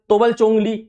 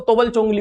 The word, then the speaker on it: तोबल चोंगली: अच्छा, असम के प्रोनाउंसिएशन में इसको तोबल चोंगली बोल दिया जाता है, वैसे अगर हिंदी का प्रोनाउंसिएशन देखिए तो इसको तबल चोंगली बोल देते हैं।